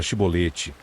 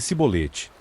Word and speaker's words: Shibolete: Disseram-lhe então: Diz, agora Shibolete. E ele disse Sibolete, pois ele não conseguia formular uma pronúncia correta.